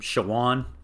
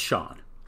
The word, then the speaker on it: Shawon: grew up calling him shawan because that's how it's spelled but in every thing i've seen it's sean and so i think we're going with sean unless somebody can send